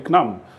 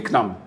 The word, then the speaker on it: CNAM: Sur la France là-bas on dit Knam euh la Caisse nationale d'assurance maladie.